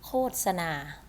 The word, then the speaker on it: โฆษณา: ว่า การ มี การ อ่าน ว่า ก็ อ่าน ว่า โคตร นะ คะ โฆษณา การ โฆษณา การ โฆษณา เอง ไม่ อ่าน โคน นะ คะ ไม่ อ่าน โทร มี การ โฆษณา 555